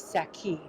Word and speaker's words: Shiqi: Shiqi is the name of my hometown, how you say it in Mandarin. In Cantonese or Saki, in Zhongshan dialect is Saki.